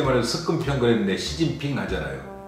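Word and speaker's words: 習近平: 우리 어릴 때 말해서 습근평 그랬는데 시진핑 하잖아요. 한자는 습근평이거든요. 근데 중국 발음은 시진핑이잖아요.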